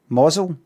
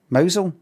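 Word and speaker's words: Mousehole: It's pronounced what? Mosel. Mosel. Mousel.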